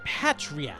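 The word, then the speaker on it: Patriatt: My main reason, Patriat, that's how you pronounce that name.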